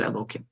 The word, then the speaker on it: Elokim: Sometimes in the Siddur you find that you say you see it written Yud Kei Vav Kei, but you pronounce it Elokim.